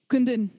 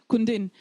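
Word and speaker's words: Kundun: Kundin. Kundin. The first is ku. The second is din. But we get that little bit of an because we've got that ma there.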